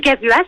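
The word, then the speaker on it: Egavuas: Et Gavuas, en fait, c'est simple, c'est sauvage à l'envers.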